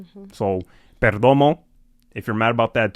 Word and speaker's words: Perdomo: He's Latino so I'mma pronounce it with with the rolled R. So Perdomo, if you're mad about that too, oh well, you.